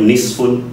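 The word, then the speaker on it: نصف: Maka lahirlah catatan di dalam Al-Quran, pinggirannya itu nisfun, tulisannya nun so fa, artinya setengah.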